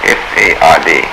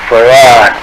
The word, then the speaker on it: Fard: Farrakhan, F-A-R-D F-A-R-D. Muhammad. Mr. Fard, did you say? Well, that would be the F-A-R-D? pronunciation in English, but we in the Arabic Yes, it's Farrad.